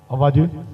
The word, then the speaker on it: Ovaje: I'm sure you're wondering that I pronounce the name very well because as an Urobo man, this is an Urobo name also. The way you pronounce it, it was so correct.